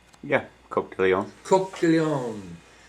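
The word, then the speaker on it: Coq de León: Am I pronouncing that correct? Yeah, Coq de Leon.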